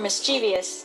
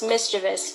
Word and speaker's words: mischievous: keyring 13 pronouncing words is it mischievous or mischievous the standard spelling for this word does not have an eye after the Vee even though many English speakers pronounce it as mischievous in fact it's actually pronounced mischievous with no extra syllable or foul pole show